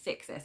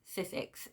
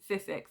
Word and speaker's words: Sissix: I'm trying to say her name properly because I've always wanted to say Sixis, and I know that I've been mispronouncing it, so it's Sissix.